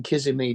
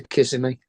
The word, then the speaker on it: Kissimmee: And then his stepdad lives in Kissimmee, don't they?